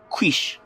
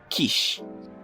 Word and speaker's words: quiche: Quiche, as in quick, right? No, it's pronounced as quiche.